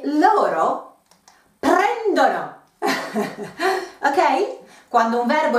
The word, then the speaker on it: prendono: Same rule as before with the pronunciation. Prendo, prendi, prende, prendiamo, prendete, and loro, one syllable behind, prendono, ok?